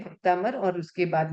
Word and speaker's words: भक्तामर: भक्तामर प्रणत मौलिमणि प्रभाणा, जो आधा अक्षर आया है उसके पहले वाले अक्षर पर प्रेशर देना। आप बोलोगे भक्तामर प्रणत मौलिमणि प्रभाणा, ये क्या आपका शुद्ध है या अशुद्ध उच्चारण? मेरा शुद्ध उच्चारण कब होगा, जब मैं भ पे प्रेशर दूंगी।